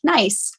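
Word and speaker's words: gneiss: It's a metamorphic rock called nice. It's spelled G ne I ss and it opens up the opportunity for so many puns.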